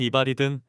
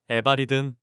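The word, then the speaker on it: eval: 발음은 이발이든 에발이든 편하신 대로 부르시면 되고요.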